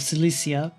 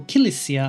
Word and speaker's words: Cilicia: the Armenian kingdom of Cilicia, or Kilicia, I guess. I think the Armenians do pronounce it with the hard K, but we want to really attack all three at once.